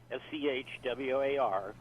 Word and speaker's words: Schwarzman: It's SCH, and then war, like in war, SCHWARZMAN, and that's Schwartzman's Scholars,